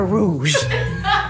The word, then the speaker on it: roux: going to start a rouge that was it let's start a role okay baby the x is silent oh i see like faux fur yes very much like